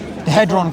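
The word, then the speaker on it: Hadron: Headron collider. Yeah. Headon collider.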